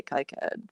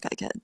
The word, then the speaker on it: KiCad: I say kyad because I think it sounds cooler and I have this I bet to kaiad tutorial that I'm never giving up.